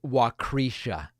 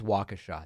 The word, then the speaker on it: Waukesha: waukesh I don't I don't actually think it's pronounced wakrisha uh that was a joke I know it's Waukesha that's just a joke it's just a joke